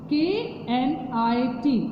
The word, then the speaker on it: knit: KNIT, बेटा इसमें K का साउंड नहीं आएगा because K is silent. So we read this word KNIT, net.